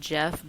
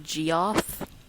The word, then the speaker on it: Geoff: I called Jeff Geoff until like 2009.